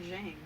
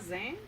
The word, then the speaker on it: Zheng: Why do you keep saying Zheng? Z-H-E-N-G. It's not Zhang.